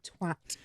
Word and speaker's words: twat: I'm so That's the correct pronunciation of that word, by the way, twat.